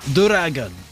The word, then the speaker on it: Duragon: But then I found out, I realized as I was, it's just Duragon. it's just the Japanese pronunciation of dragon, Duragon.